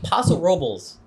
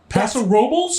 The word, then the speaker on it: Paso Robles: Paso Robles.